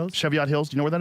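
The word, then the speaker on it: Cheviot Hills: Chevott Hills.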